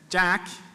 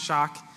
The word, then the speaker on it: Jak: so far so if Jack not pronounced shock is a tool that